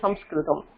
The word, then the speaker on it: சம்ஸ்கிருதம்: அதனால இந்த பாஷைக்கு பேரு சம்ஸ்கிருதம். அதனால நம்ம சான்ஸ்கிரிட்னு சொல்றதை விட சம்ஸ்கிருதம்னு உச்சரிக்கிறது தான் ரொம்ப கரெக்டானது. சம்யக் கிருதம், கிருதம்னா செய்யப்பட்டது.